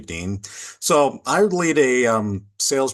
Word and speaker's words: Dehn: Yes, I know the name is spelled weird d e h n, but the German pronunciation is actually Dean.